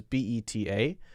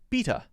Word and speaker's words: beta: are natural for example in some places b-e-t-a would be pronounced beta but where i come from b-e-t-a is pronounced beta now you might you